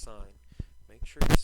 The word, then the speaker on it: sine: called sign function okay just like a street sign okay it's pronounced sign make sure you're saying it I don't want to hear anybody coming in and saying sin x now our domain our